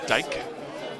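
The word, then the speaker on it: Dyche: It is pronounced Dyke. D Y C H E.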